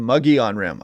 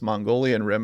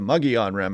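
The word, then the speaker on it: Mogollon Rim: few days now the muggy on rim I pronounce this Mongolian Rim out there yesterday sorry about that saw the few comments about it it is the muggy on-rem out there and you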